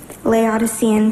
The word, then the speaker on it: Laodicean: up and ready to spell her final word Laodicean Laodicean campus at the definition lukewarm or indifferent in religion or politics Laodicean can I please have a language of origin